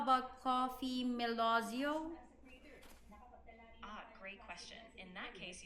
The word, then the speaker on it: Melozio: So, how about Coffee Melozio? Great question. In that case, you'd say it as coffee melozio.